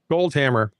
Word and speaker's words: Goldhammer: Goldhammer, like just how it sounds, like Goldfinger, it's Goldhammer instead.